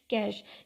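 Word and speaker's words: cache: फिर उन दो टाइप्स के अलावा मेमोरी की जो थर्ड टाइप है वो है कैशे मेमोरी। कैशे मेमोरी हम किस तरह प्रोनाउंस करते हैं, कैश।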